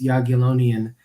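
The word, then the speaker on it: Jagiellonian: know that Chad had a difficulty trying to pronounce it so it's yonan University Med it's a unique place because it's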